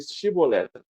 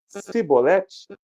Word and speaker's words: chibolete: ele para ele dizer chibolete se ele disser cibete sem conseguir pronunciar corretamente a palavra prendam e matavam no